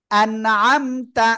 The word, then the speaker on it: أنعمت: আনআমতা আইন গলা চেপে, আনআমতা।